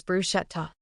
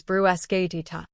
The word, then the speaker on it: bruschetta: Many people pronounce this delicious appetizer as bruschetta. But in Italian, the ch combination makes a hard k sound. The correct and much more authentic pronunciation is brues dita.